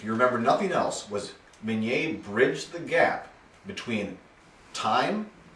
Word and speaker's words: Minié: Now, his name was spelled M-I-N-I-E, which in French is pronounced Minié, but Americans, not knowing the French pronunciation, saw that as mini.